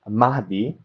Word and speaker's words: Mahdi: Mahdi, by the way, it's pronounced Mahdi because, like you said, you have the diacritic on the final D here, right? So you actually pronounce it Mahdi, right?